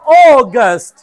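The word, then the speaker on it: August: আগস্ট আগস্ট আগস্ট আগস্ট আমরা আগে কি বলতাম আগস্ট কি বলতাম আগস্ট বলতে হবে অগস্ট অগস্ট অগস্ট আগস্ট অগস্ট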